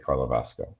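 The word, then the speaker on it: Karlovarsko: Yeah, with my time, so the club that you're referencing in Czech Republic the name is pronounced VK Karlovasko.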